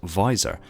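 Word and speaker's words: VISR: systems visual intelligence system reconnaissance abbreviated to and pronounced as visor is a specialized data management system for Meir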